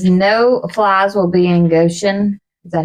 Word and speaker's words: Goshen: Says no flies will be in Goshen.